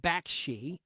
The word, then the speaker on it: Bakshi: By the way, his name is pronounced Bakshi, and it's spelled Bakshi.